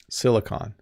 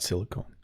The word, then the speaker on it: silicon: lot of tech companies silicon valley not silicone silicone is like a substance you use to glue things together or seal things but silicon um yeah hopefully I'm saying it right algorithm.